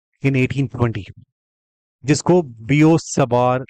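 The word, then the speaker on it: Biot–Savart: से बोला जाता है क्योंकि इसमें टी साइलेंट है इट्स अ फ्रेंच वर्ड बियो सवर लॉ जीन बैप्स बी फ्रेंच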